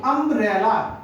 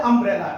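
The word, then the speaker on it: umbrella: ध्यान दीजिए किस तरीके से होगा बच्चा, कि ये क्या है, अम्ब्रेला, यू एम बी आर E double L, इसको बोलते हैं अम्ब्रेला, यानी आ, यू किसका उच्चारण दे रहा है बेटा, आ का।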